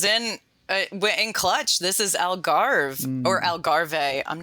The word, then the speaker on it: Algarve: Algarve. There you go. The Spanish pronunci.